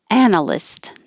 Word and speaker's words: analyst: So the vowel is a, and American pronunciation of this name is Anna. And so it it could sound like somebody's name. This is Anna List. I'd like to introduce you to Analyst.